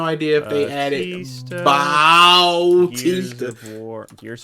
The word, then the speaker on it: Bautista: but his name was Batista when he was wrestling, and it was spelled B-A-T, but his last name is spelled B-A-U-T. So to differentiate them from the wrestler and the actor, DA and I say Bautista.